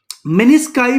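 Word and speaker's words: meniscus: छोटे-छोटे कुशन रख दिए ठीक है जिसको हमने मिनी स्काई बोला क्या बोला मिनि स्काई स्पेलिंग क्या है मनि स्काई के वह लिख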